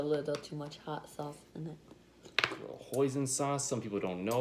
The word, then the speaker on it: hoisin: too much hot sauce hoisin sauce some people don't know about poison sauce I thought it rhymes with poison she thought it was